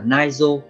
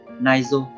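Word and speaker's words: 内臓: Cách đọc của nó là naizo, naizo.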